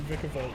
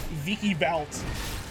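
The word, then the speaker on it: Vikavolt: I was showing you Vicavolt, you goon. I'll even pronounce him wrong. Vicky Valt.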